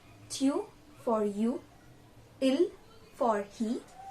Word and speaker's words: il: So for he, we call he in French as il.